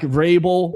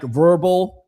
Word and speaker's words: Vrabel: Mike Vrabel, but I know how to pronounce it. It's not Mike Verbal.